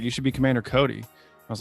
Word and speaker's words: Cody: my name is mopar my name is commander cody commander cootie and then the kitty yeah it's a good point i think you brought that up last last episode that he does like pronounce it weird commander kitty he's like what what did you say yeah my name's cody you know more how